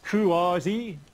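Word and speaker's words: CUAHSI: So I said that CUHASI, so CUHASI, they say you should pronounce it CUHASI, and it's a non-profit consortium of about 130 U.S.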